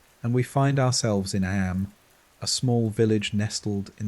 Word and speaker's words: Eyam: It's now the summer of 1665, and we find ourselves in Eyam, a small village nestled in the picturesque hills of Derbyshire, England. Am, is pronounced just like M.